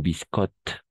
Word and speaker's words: biscotte: Une biscotte, et al final no se pronuncia.